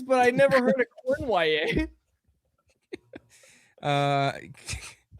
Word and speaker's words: Cournoyer: Cournoyer. That's how it's pronounced.